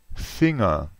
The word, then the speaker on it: Finger: in n e g in inglese è Finger ma in tedesco è finga se una parola termina